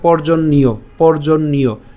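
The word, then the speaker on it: পর্জন্যঃ: থাকার কারণে এই ইয়র সাথে ওকারটা যুক্ত হয়ে উচ্চারণটা হয়ে যাবে হচ্ছে ইয়। ঠিক আছে, পর্জন্যীয়। এরপর যজ্ঞঃ কর্ম সমুদ্ভব। আশা করি আপনারা বুঝতে পেরেছেন। আমি আবার বলছি, অন্নাদ ভবন্তি ভূতানি পর্জন্যাৎ অন্ন সম্ভব যজ্ঞাৎ ভবতি পর্জন্য যজ্ঞঃ কর্ম সমুদ্ভব।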